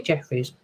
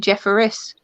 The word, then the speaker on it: Jeffress: I'm not allowed to say Jeffries. Sorry. That's all right. It's actually Jeffress. Oh, Jeffries. Oh, I always say Jeffries. Yeah, loads of people do. Mispronouncing the name. I'm mispronouncing Bec's name all the time, yeah. Jeffries. Jeffress. Jeffries, like bouquet or bucket.